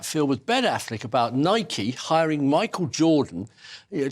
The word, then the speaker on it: Nike: that combination of Air rikey Nike Nike it's pronounced Nike it's a Greek word for victory uh and